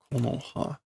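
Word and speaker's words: 木の葉: Ko no ha. Okay, that's not the normal pronunciation. Ko no ha. Okay, apparently that is for foliage.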